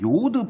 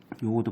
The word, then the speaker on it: 요오드: 아무튼 작스라고 하는 사람은 뭘 얘기하냐면 요오드 반응법을 얘기를 해요. 요오드 반응법. 그러니까 이 요오드라고 하는 건 요즘 요오드라고 안 하죠, 그렇죠? 이건 독일식 발음이에요.